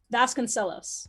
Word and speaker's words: Vasconcelos: I think it's she's commented in interviews that people always tell her she pronounces it wrong, but that her family pronounces it Vasconcelos.